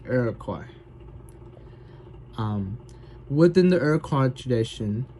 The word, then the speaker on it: Iroquois: The Iroquois Nation, the word sounds like it pronounced different, but it's traditionally pronounced Iroquois.